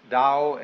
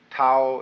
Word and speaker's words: Tao: the Dao ta AO pronounced Dao in the Mandarin dialect Tao in the changhai dialect toe in the Cantonese dialect take your choice da